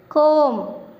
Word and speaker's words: comb: See, even though there is a B at the end, we are not going to pronounce B here. B is silent.